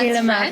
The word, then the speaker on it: De la Mare: de la Mare. Pretty good. How do you say it? De la Mare, but that's De la Mare. French.